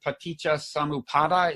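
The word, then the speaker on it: paṭicca samuppāda: What's the pronunciation? Paticca samuppada. Is that? Yeah, paticca samuppada.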